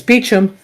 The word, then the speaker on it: Beauchamp: Which I find interesting that he say his name is Beecham, even though it's spelled in IMDb as Beauchamp.